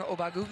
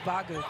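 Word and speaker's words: Ogbogu: why are we calling obago she told us it's actually the accent on the last cabel if you will because we've all been saying aagu oh inway puts that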